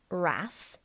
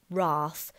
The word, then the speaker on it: wrath: Make the G hard in gyre and gimble, and pronounce wrath to rhyme with bath, or wrath to rhyme with bath.